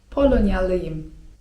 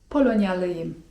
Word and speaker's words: Polonyalıyım: polonja) I jeśli chcemy powiedzieć, że pochodzimy z Polski to mówimy: Polonyalıyım (czyt. polonjalyjym) Może też nas ktoś zapytać o to jak mamy na imię.